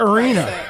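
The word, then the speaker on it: Areana: Yeah, I would pronounce that Arena.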